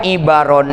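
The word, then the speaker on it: عِبَر: Nah, lapad ibaron ini bikasril aini wa fathil ba. Dibacanya dikasrahkan ainnya, dipatahkan baknya, ibaron.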